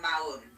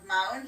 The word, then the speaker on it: Maun: So Kidra, mostly guests from our perspective fly in from Maun, which is spelled M-A-U-N, and they would come normally from